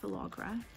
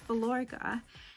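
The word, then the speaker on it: Filorga: name but it's um vilorga i've been calling it falagra it's velourga um and these products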